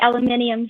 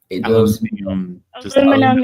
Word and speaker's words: aluminum: came to America yeah because he called it aluminum even though I think aluminium sounds better aluminum is the actual correct pronunciation according to the guy who who named it say it say it